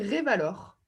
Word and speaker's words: Revalor: J'ai mal prononcé, c'est ça? Oui, c'est Revalor. Oui, d'accord. En français.